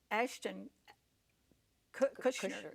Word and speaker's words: Ashton Kutcher: I heard the popular actor Ashton Kutcher, that's the way you pronounce it, speaking to a bunch of, here he's probably $1 million is nothing to him.